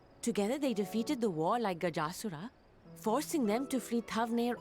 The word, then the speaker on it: Gajasura: Oh, it's pronounced Gajasura. I was saying Gajasura. Gajasura.